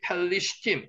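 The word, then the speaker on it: פְּלִשְׁתִּים: 나메더가 단어의 중간에 들어가면은 앞에도 발음이 나고 뒤에도 발음이 납니다. 그래서 앞에 펠이 되고요. 리얼이 발음 나죠. 리가 다시 한번 두 개로 발음됩니다. 펠리슈팀.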